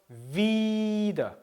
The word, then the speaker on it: wieder: 이를 길게 한다 그랬죠. 그래서 wieder 길게 발음하죠.